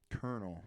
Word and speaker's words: colonel: Colonel, yeah.